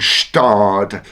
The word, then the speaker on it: Gstaad: So Stade, when you think of ski resorts that say old inherited money, the silent G in Stade comes to mind.